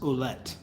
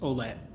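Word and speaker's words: Ouellette: No, it's pronounced Oulette, but it has 9 letters that you could easily spell with 4. But yeah, it's much more simple than that. Really, the lazy pronunciation, like if I'm just saying it, it's just Olet. That's it. Olet. O-L-E-T. Like it's because the OU sound is somewhere between the O and a U.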